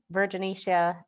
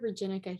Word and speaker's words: virginica: It's Crassostrea virginica hemocytes, but you were really close.